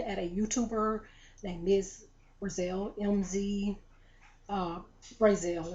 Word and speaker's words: Brazell: And this was, I was looking at a YouTuber named Mzbrazell, Brazell is the way she pronounced it, I believe, Brazell.